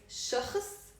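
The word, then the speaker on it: شخص: In the singular, it's shakhs. Shakhs, it's a one-syllable word.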